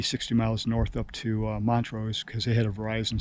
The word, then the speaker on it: Montrose: I went about 50, 60 miles north up to Montrose because they had a Verizon store.